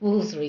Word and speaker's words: Wolfardisworthy: I mean, Baroness Asta Moffat of Wolfardisworthy, actually that's pronounced Wolseley, darling, and Miss Dorothy Gwendolyn Hunt and Blather are such wonderful characters.